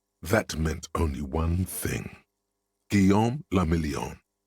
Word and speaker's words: Guillaume le Million: Guillaume le Million. So Revachol and Guillaume le Million. If it doesn't rhyme, you're not pronouncing it right.